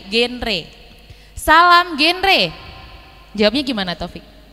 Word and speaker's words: genre: Pelafalannya G ya teman-teman ya, genre.